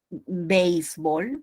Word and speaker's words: béisbol: Solamente la podemos pronunciar como diptongo, béisbol.